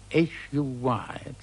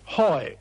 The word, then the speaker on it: Huy: And then he stuck H-U-Y, and just couldn't pronounce Huy. So after a moment's hesitation, he said triumphantly, Hoi!